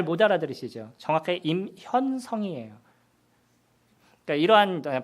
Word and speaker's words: 임현성: 예 쓰 제 이름이 임 현 성 입니다 제가 제 이름을 얘기할 때도 이렇게 띄워서 말씀을 드려요 왜냐하면 같이 미 3개가 다 붙어있어요 이름이 뒤에 받침이 세 개가 있으면 요 발음이 안 돼요 그렇기 때문에 이름을 있을